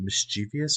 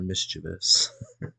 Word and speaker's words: mischievous: But I think my question to y'all is, do you pronounce it mischievous or mischievous? I mean, do you say it a normal way or No, I think I'm both trying ways to be are a right. nerd emoji way?